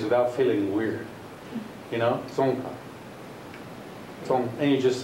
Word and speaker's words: Tsongkha: Changes happen in the second syllable, third syllable. tsongkha. So it's very hard for me, even, now that I've formulated this system, to not lower it and say tsongkha.